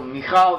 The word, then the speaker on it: Michal: Michal is how the name is pronounced in modern Hebrew.